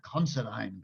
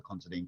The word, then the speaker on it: Considine: for this book, The Considine Curse, or The Considine Curse, depending on how you say it.